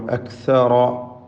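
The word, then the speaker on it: أَكْثَرَ: അക്സറ, അക്സറ, ഇതിൽ റായിന് മാത്രമാണ് തഫ്ഖീം എന്നത് ശ്രദ്ധിക്കുക.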